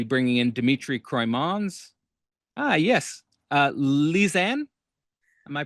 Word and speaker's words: Lisanne: Lisanne, am I pronouncing that correctly?